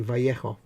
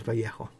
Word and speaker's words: Vallejo: sometimes i say i i'm pretty sure i heard i i found out from the horse's mouth it's actually vallejo to people that live in that part of the world and speak that language and apparently it is vallejo oh green stuff will